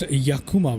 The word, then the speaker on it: Yakima: Uh, it's pronounced Yakuma, bro.